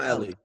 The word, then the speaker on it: Elie: We're speaking with John and now is it Elely or Ellie? I want to John Ellie. John Ellie because I heard two I heard two pronunc